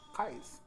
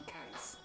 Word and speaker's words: Qais: your like move from your comfort zone and pronounce Qais. Mm-hmm. And a lot of people call me Qais or Mm-hmm. Qais.